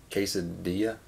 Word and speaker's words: quesadilla: L feels lonely neglected what other word is the L silent quesadilla I guess there's no